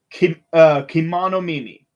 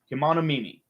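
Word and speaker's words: kemonomimi: Uh, Kimono Mimi. There we go. That's how you say it. Kimono Mimi.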